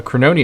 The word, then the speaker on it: Crononia: And now from Crononia, or I should say, oh no, Crononia is actually the right pronunciation, surprisingly.